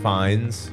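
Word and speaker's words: Fiennes: name is ralph great what's the last name finds but it's spelled like fiannis i oh yeah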